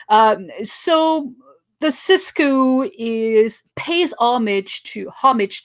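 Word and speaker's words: sixku: it's it's it's spelled six coup but i pronounce it cisco because i'm i'm french and i just can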